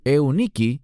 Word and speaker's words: Eunice: griego es lo ID y tu madre Eunice que literalmente en griego es euniki y significa la buena Victoria eso es lo que significa Eunice una buena Victoria y